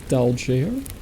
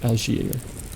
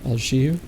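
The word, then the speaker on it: d'Alger: three smaller of metal dal, sorry, I think the D is silent. Alier and two bags containing nearly 4,000 francs and gold.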